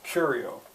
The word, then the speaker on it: curio: spelled right yeah curio can anyone hear what's stressed cure the first syllable curio what's the context that